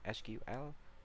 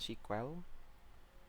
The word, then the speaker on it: SQL: akan belajar mengenai sequel biasanya orang ada yang mengjanya SQL tapi cara bacanya sequel Nah di sini kita akan